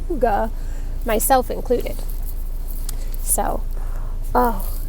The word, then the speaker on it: Hygge: I think it's so funny that Red Heart finally decided to put the pronunciation on there because for so long everybody was mispronouncing Hygge, myself included.